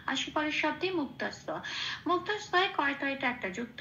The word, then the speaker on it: মুক্তস্য: দন্তস্বয় জফলা একই রকম ভাবে লাল রং দিয়েছি জফলার উচ্চারণ বোঝানোর জন্য। এবার এটাকে দন্তস্বয়ের সাথে পড়ে দিতে হবে, দন্তস্বয় সন্তস্থা সিয়া, এটা হচ্ছে উচ্চারণ। তাহলে শব্দটা উচ্চারণ পেলাম মুক্তা সিয়া।